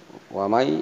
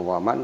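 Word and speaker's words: ومن: Kemudian berikutnya wamai, ya inun mati, ya ini gom. Wamai bukan waman tapi wamai, Wa may ya'mal misqal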